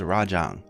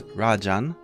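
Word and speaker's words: ラージャン: elder dragons which is rajang in Japanese his name is Rajan uh doesn't have the g at the end it's just Rajan uh and his nickname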